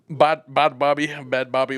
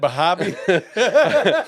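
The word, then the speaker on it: Bhad Bhabie: They said Bad Bobby, whatever.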